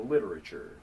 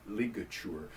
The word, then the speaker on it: ligature: said that word, and I thought he just mispronounced the word literature. And so I went through like 5th grade calling it a literature. It's a ligature, which is actually a really cool French name.